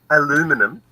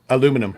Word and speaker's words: aluminum: whatever yeah yeah how do you say it aluminum aluminum Alum aluminum Oh I thought that aluminium I